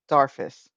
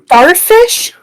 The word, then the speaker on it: Darfus: D A R F U S or Darthus. Yep. A little bit like Dofus.